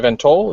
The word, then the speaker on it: VanToll: and um our guest today is um TJ vento is that how you pronounce it yep awesome can you just tell